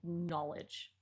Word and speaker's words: knowledge: So, knowledge does end with ledge, but it is not said like that. It's it's said knowledge. So, it wouldn't rhyme with edge.